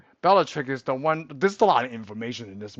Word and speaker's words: Bellatrix: It is Beatatric. Yeah, we know what it is. Well, it's Bell. I think it's Bellatricus or something like that. Is that how you pronounce it? We say it pretty. I don't even think they said Beatatric. Beatric, but because one of those things that they pronounced Oh, uh, Bellatrix. Bellatrix. Yeah. Yeah. I'm sorry. Bellatrix.